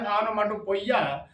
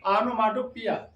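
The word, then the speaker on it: onomatopoeia: ओ ई आई ए एनो माटो पिया लोग पढ़ देते हैं एनो माटो पोइया लेकिन नहीं सही साउंड होता है नो माटो पिया स्पेलिंग लर्न होनी चाहिए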